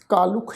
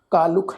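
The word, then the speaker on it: ਕਾਲੁਖ: कालुख शब्द है, ख्याल रखो कक्के नूं कन्ना लले अखर दे पैर च औंकड़ की मात्रा है। कालुख लले नूं औंकड़ की जिहड़ी मात्रा है ये भी उच्चारण करांगे।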